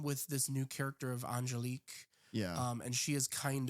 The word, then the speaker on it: Angelique: This one, he almost splits his time with this new character of Angelique. Yeah. And she is kind of, the foil to him. Also, you could pronounce that name Angeliqua.